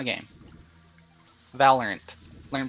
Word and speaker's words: Valorant: or um Halo or just whatever or uh valorian valorient will be another good one no it wouldn't because that game doesn't exist it's DeLorean not a game valorant learn pronunciation oh Lord anyhow sorry yeah I